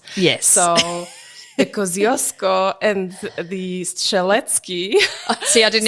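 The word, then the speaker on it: Kosciuszko: pronounce yes so the Kosco and theki see I didn't even get it right so we always have fun about how Australians pronounce those names kushko is the proper pronunciation of the Kosco Mountain and staly was the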